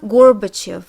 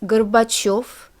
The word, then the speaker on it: Gorbachev: Y in the endan the ending becomes stressed because letter y is always stressed in Russian so it's not Gorbachev it's gorbachov and Kus these two